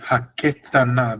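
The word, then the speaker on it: הקטנה: Ha Isha ha Hakatana Hazot. Okay, good. Haketana. Because of the two dots, it's a soft E.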